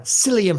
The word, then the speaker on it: psyllium: Psyllium husk, spelled with a P-S-Y.